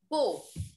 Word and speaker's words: beau: Now this beau and this beau has no difference in the pronunciation.